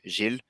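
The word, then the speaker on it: Giles: for them uh because the way you pronounce it in French is uh the same as a male name so Jill uh if you if you spell it the male way would be g-i-l-e-s so that didn't change anything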